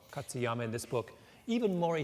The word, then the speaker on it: Katsuyama: whatever his name last name how do you pronounce his last name katsuyama katsuyama in this book even Maury Taylor they all